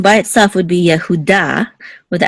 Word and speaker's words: Yehuda: And of course, the accent mark is on da. This is the accent right here. Instead of Judah, it's Yehuda. But yes, this word is.